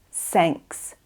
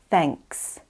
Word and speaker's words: thanks: When you are saying this sound, try not to say s, sanks, instead of thanks.